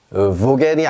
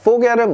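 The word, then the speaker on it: Vogel: 자, 얘는요, 당연히 그러면 보겔이 아니죠. 보겔 하고 싶은 마음 저도 알아요. 알지만 얘는 포겔입니다. 포겔. 자, 포겔은 무슨 뜻이냐?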